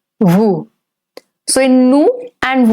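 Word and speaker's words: nous: say who so in new and Wu both the S is silent it's Lu and it's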